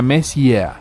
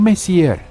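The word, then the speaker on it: Messier: Bueno, jovencita, la M significa mesia, pronunciado mes, no mesier.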